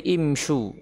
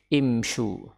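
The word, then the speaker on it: امشوا: Karena jamak yang diperintah imshiu, imshiu, dan imshiu ini diubah menjadi imshu, diucapkan menjadi imshu.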